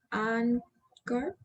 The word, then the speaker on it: anchor: ¿puede repetir la pronunciación del anchor y Anchor. la de ¿cuánto? Anchor. Es como una K, es una K.